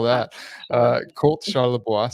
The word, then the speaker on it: Charlebois: How do you spell that? Uh, Colt Shalaboisa, C H A R L E B O I S.